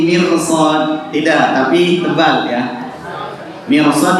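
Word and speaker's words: مرصاد: Mirsad itu tebal ya, karena meskipun sebelum huruf roh itu harokatnya kasrah, dilihat setelah huruf rohnya ya. Setelah huruf rohnya itu adalah huruf sad, huruf isti'la ya. Jadi cara bacanya adalah tebal ya.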